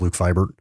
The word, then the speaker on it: Luke Vibert: It is Luke Vibert.